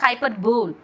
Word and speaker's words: hyperbole: See, the spelling is hyper, hyperbole. But you have to pronounce that not hyperbole, hyperbole. Remember bahubali, hyperbole.